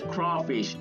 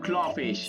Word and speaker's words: crawfish: I already told you, it's crawfish, not clawfish.